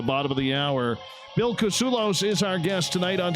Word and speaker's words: Kousoulas: So my mom tells her friends, or used to when I was little, the way to pronounce the last name is it rhymes with useless.